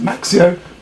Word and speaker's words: Maxcio: Hi there, so here I have the Maxcio, as that's pronounced, Maxcio star ceiling light crystal effect with RGB lights and also a speaker for playing music, which this should be quite interesting.